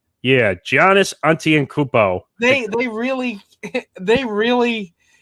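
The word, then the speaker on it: Antetokounmpo: to say his last name right yeah giannis auntie and cupo they they really they really you really saw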